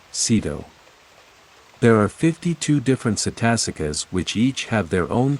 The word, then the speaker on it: cetasika: The Pali term cetasika, pronounced cetasika, is to be preferred to the English translations of this term which vary in different textbooks.